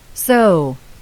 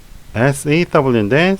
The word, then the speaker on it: sew: sew, SEW인데 sew 하면서 OU로 끝나는 거 주의하시기 바랍니다.